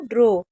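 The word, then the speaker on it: draw: टू ड्रॉ ए डब्ल्यू को ओ पढ़ते हैं। तो ये क्या हो गया? ड्रॉ हो गया।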